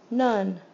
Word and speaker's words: none: the whole watermelon n none there none there was none left this is the odd ball it does not make the short o nor the long o uh none it it